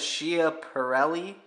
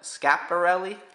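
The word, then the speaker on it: Schiaparelli: I believe so it looks like it says Shia pelli but it's pronounced according to Wikipedia scaparelli very famous costume jewelry designer and uh worked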